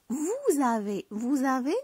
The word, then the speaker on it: vous avez: هذيك s avec a كتقلب لينا z. Vous avez بحال nous avons.